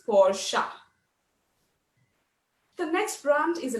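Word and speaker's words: Porsche: you feel posh but is it pronounced posh or porche the correct pronunciation is for sha the next brand is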